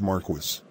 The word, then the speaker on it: Marquis: It's pronounced Marquis.